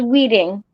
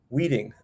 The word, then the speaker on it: Wieting: Now, do you pronounce it Wieting? It's Wieting. Wieting, okay. Like you're weeding the yard?